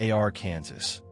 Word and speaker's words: Arkansas: Arkansas would rather have a pronunciation law than endure another decade of being called AR Kansas by confused tourists and television announcers.